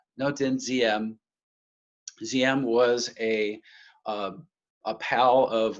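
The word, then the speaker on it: Ngô Đình Diệm: this man's name is Ngo Dinh Diem. That's spelled D-I-E-N. It's kind of, there's a Z sound to that one. Ngo Dinh Diem.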